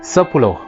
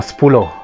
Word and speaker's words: sepuluh: So 10 being the first single unit of the tens would be sepuluh or spulo. Normally it's pronounced in spoken form.